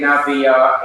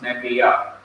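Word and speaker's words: נְבִיאָה: hurriedly pronouncing nebiya, you cannot say nabiya in the Hebrew. You'll have to say ne, not na but ne. So it changes from a kames to a simple schwa, which is vocal or is pronounced, nebiya.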